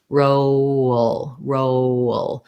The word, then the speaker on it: roll: In reality, think about it as I'm moving from the O to the L. It has a little bit of a schwa, so it sounds kind of like oh. That means I'm going to have a little bit of a glide in there.